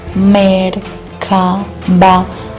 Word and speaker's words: Merkaba: Esto es importante que lo comprendas porque este vehículo espiritual que se llama Merkaba, porque se pronuncia así, Merkaba, aunque uno lo diga Merkaba, la pronunciación exacta es esa.